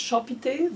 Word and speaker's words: Shopi: The ethnic group is called Shop, or S-H-O-P, pronounced Shopite, the inhabitants, that's the nickname of them.